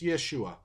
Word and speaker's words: Yeshua: short and formed it's Yeshua because in the Greek it's yesus because Greek people in their language they didn't have equivalents for the sh sound so they couldn't pronounce Yeshua the closest they come